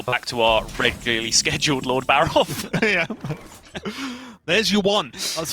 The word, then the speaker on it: Lord Barov: keep yourselves alive I'll show you who's F Lord barav coming into play now is the one and